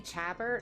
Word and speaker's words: Chabert: Lacey Chabert, I think I'm pronouncing that wrong. I think it's Chaber.